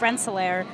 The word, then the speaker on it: Rensselaer: Yeah, he said RPI is Rensselaer, which I was right about. Yes, correct. Yeah.